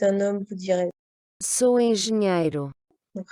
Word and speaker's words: engenheiro: si vous êtes ingénieur, donc si vous êtes un homme, vous direz, Sou engenheiro. donc rappelez-vous, hein, NH se prononce NIE.